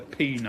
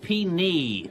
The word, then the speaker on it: Penile: A comprehensive history of the penile. That's pronounced pee-knee.